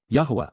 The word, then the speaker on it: Yahowah: Yahowah, the proper pronunciation of the name of Eloah.